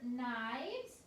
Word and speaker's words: knives: You're going to see the word knives. It's spelled with the K-N for the N sound.